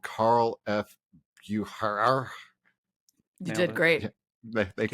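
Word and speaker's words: Carl F. Bucherer: I was using Google to find it, and I guess they're called Carl F. Bucher.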